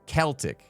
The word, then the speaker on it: Celtic: Hard C. K. Celtic. Celtic.